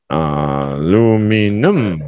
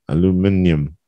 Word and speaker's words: aluminium: Alu, the stress is on min, and you start low.